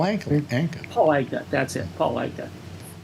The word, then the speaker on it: Paul Anka: Paul Anka. Who I like to pronounce his name as one word, Palanka.